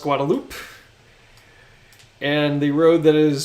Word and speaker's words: Guadalupe: that's pronounced manek uh the road that is spelled Guadalupe is pronounced guadaloop and the road that